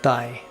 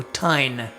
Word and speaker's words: ताईं: So without a nasalization, this would sound like Thai. You want to say that? Thai. With the N, it sounds like this, Thai.